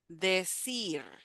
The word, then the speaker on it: decir: Decir, decir. And we have the E in the last syllable. Decir. Again, even though we have one R there, the sound is stronger. It's just the R, decir.